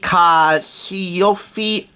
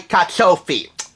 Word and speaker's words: carciofi: Fusilli con I carciofi. Sorry, carciofi. I made that mistake last time when I tried to pronounce it.